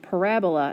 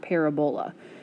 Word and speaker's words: parabola: which again is a u-shaped graph and it's pronounced parabola not parabola so you'll see later in the notes these